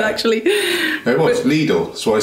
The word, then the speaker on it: Lidl: and I said, like, single to Lidl, please, and the driver said, don't you mean Lidl? Well, no, I don't. That's not how you pronounce it. It's a German word, numbnuts.